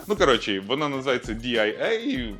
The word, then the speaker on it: Дія: ну короче вона називається diaia Мені здається Воно читається як дія Ну але транслітерація нашої дії так ось вони запустили